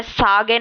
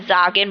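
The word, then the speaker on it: sagen: मैं सागेन नहीं बोल रही। मैं जागन बोल रही हूं। और यहां पे सेम ये आ है। यह आ की साउंड दे रहा है। जागन जगन नहीं है ये या ज़ैगन नहीं है।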